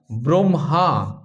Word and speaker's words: ব্রহ্মা: এখানে লিখে রেখেছি আমি এই যে যুক্ত বর্ণটি এর উচ্চারণ করছি আমরা ব্রহ্মা। আগে ম পরে হ।